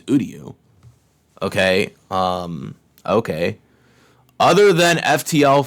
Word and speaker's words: Uryu: Did they, not pronounce that right? His name's Uryu.